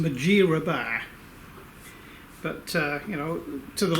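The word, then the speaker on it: Mudgeeraba: It's actually pronounced Majirabar, but you know, to the locals it's Mudrabar.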